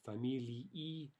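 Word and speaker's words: фамилии: The dative form of familia is familii. Familii. Note that that ending is two syllables, right? E is a vowel, so we have one syllable per vowel in Russian, so familii. Now, if you say it quickly, you might not hear that very distinctly. Familii, but again, if we're speaking clearly, that ending should be two syllables.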